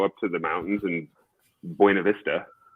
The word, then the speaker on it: Buena Vista: So they literally go up to the mountains in Buena Vista, right? If you pronounce it like a true Coloradan, and they hack up